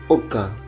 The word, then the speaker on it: aucun: Aucun tidak satu pun, au dibaca o, aucun.